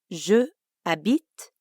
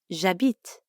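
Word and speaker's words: j'habite: vowel like a bit we sometimes contract the two words so instead of ju abit we get jabit we saw this when we learned how to say my name is je m'appelle right instead of me we say by the way a beat technically starts with an h but since the french h is silent we treat it like a vowel a bit that's right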